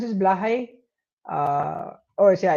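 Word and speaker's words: Blåhaj: Did I pronounce this Blahai? Oh, yeah, it's pronounced Blahai.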